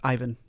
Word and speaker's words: Ivan: no he's um he's check okay and he pronounces that yvonne this is like a dana elkhart kind of